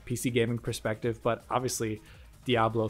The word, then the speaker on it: Diablo: to the PlayStation 4 did you pronounce it die a balloon this is bothering me down Diablo it's Diablo but I've always had